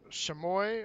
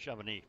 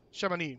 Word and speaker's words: Chamonix: They've been staying in the town of I think it's Chamois or something like that is pronounced. Chamonix. Chamonix. There we go. And the X throws me off.